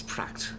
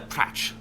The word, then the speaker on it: Pratch: Name's Pratt. Uh Pratch. Sorry, I mispronounced his name the first time because I was playing around with it. Pratch.